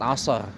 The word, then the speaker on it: asar: Salat asar lebih tepat ya pelafalannya. Yang benar begitu.